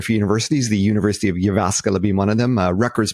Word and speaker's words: Jyväskylä: How do you pronounce that? Jyväskylä.